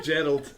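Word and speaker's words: Geralt: I say it's the Gerald I said Gerald all right okay Gerald it's a hard it's a hard G name but you don't call him Jerry The Witcher that's I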